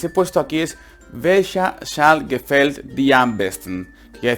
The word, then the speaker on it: Schal: Entonces SCH, recordar que era una doble S, no digas una S nada más, porque si no dirías welche Schal, y Sal está mal dicho, es Schal, Sal, Schal, Sal, Schal. Alargo la S, Schal, no Sal, Schal.